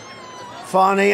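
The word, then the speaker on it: Fani: funny it's spelled Fanny it's spelled Fanny like your ass right F but when she became da she decided to add a little French a little fancy fny fonny and you know fonny and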